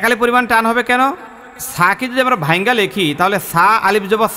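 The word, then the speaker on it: ثا: এই হরফটার নাম হল ছা বলেন তো সবাই এই হরফটা নরম হবে বলেন তো কি হবে নরম হবে নরম হবে এবং এক আলিফ পরিমাণ টান হবে কত আলিফ টান হবে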